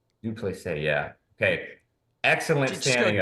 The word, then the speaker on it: Dricus Du Plessis: Dricus Du Plessis. Du Plessis, yeah.